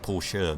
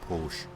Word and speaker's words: Porsche: of anything of Mary it's Paul sure not Porsche that bugs me it's gonna be on the end it's a German word therefore you pronounce the e and cut across here